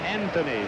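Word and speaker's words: Anthonia: Anthony, spelled A-N-T-H-O-N-I-A, pronounced Anthony.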